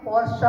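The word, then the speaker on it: Porsche Design: पर मैं बता दूं कि पोर्शा है इसका रियल प्रोनाउंसिएशन।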